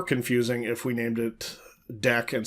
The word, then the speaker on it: deque: a related topic is the ADT deck you'll notice um the name of this thing is doubly ended Q now you a lot of people think oh double-ended Q it's like DQ why don't they have